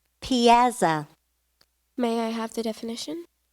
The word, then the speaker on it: piazza: ar e lv a and T relevant correct Piazza may I have the definition an open square